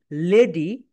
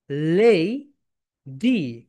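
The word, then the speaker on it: lady: এরপরে দেখো লেডি, এটাকে বাংলাদেশিরা আমরা বলি লেডি, লেডি। That's wrong. Right pronunciation বলো লেই ডি, লেডি।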